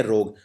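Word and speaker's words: rogue: इसे बोलते हैं रोग। हां लेकिन बोलने में यू और इ का उच्चारण नहीं होता।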